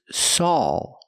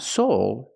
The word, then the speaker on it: Saul: also with a name the name is Saul it's not Soul it's sa so the correct pronunciation is better call SA not better call soul and I love this show